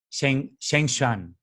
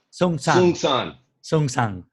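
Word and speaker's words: Seung Sahn: And he moved into the Providence Zen Center in the US in 1984, studying with Zen Master Sheng Shan. Right? Did I say it properly? Sung San.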